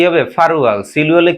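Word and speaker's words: 팔월: 7 মাস, ফাল উয়াল, তো এটা কি হবে ফারুয়াল, সিল উয়ালে কি হবে সিরুয়াল, ফালুয়ালে কি 8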